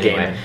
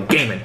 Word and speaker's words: Gaiman: I'm pretty sure it's Gaiman, but he pronounces it Gaiman. But anyway... Because I saw him on Doctor Who Confidential. He says, I am Neil Gaiman.